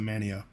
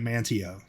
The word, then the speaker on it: Mantio: Well, I mean, it's basically spelled Mantio, but they call it Manio. And they yell at you if you try to say it Mantio.